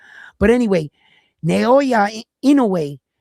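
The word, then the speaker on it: Inoue: But anyway, Naoya in a way right I'mma tell you right now he actually showed up to Bruce Carrington fight.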